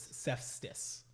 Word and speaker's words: Sepstis: This was Sepstis with a T. Yes. I may not have pronounced the T before.